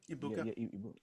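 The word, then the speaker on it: Egbuka: Is that how you pronounce his name? Ibuka.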